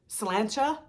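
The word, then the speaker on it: Sláinte: I mean, slancha means cheers, right?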